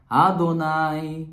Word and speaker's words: Adonai: estamos com essa mesma estrutura Baru Ah tá Adonai elohreino Então o texto da benção que